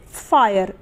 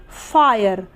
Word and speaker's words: fire: उसी तरीके से फायर, FIRE फायर। क्लियर हुआ? अगला हमारा उच्चारण नियम ये कहता है कि जब किसी